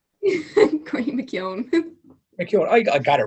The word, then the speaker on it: McKeon: another round of shattering with the tubs courtney mckeown mckeown i said your name wrong courtney tell him your name cory mckeon thank you i got it right but i